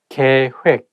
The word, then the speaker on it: 계획: I think when it has double vowel like OE of 획, it's not heck, it has to be 획. That is the one making this word not easy to pronounce. So make sure that you say 계획, 계획, not 계획. So with the word you